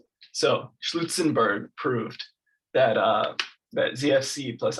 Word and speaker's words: Schlutzenberg: Lutzenberg, I recently learned from farmer Schlutzenberg himself that it's pronounced Schlutzenberg. So Schlutzenberg proved that that ZFC plus I0 is equiconsistent actually with ZF plus all this DC lambda principle.